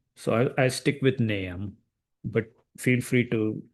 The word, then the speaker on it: Nahum: So Naam Naam one some people say nahome that's also fine. Uh the Hebrew pronunciation is completely different. Uh most people would pronounce nam or nam. So the dictionary is telling me it should be pronounced nam.